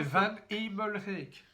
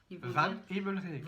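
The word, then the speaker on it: Van Hemelryck: C'est Van Emelrijk. Van Emelrijk. En 2 mots. Donc Van Emelrijk, si on veut le dire en prononciation française, c'est ça. Donc c'est V-A-N en 2 mots, H-E-M comme maman, E-L-R-Y-C-K. Voilà. Van Emelrijk, ils vont dire.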